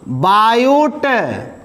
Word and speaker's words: Biot: बायूट, इसका नाम बायूट है लेकिन टी साइलेंट रहता है, बायूट-सेवर्ट लॉ।